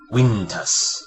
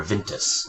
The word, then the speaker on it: Wintus: And last but not least, we have Wintus, or Vintus, as you would actually pronounce his name.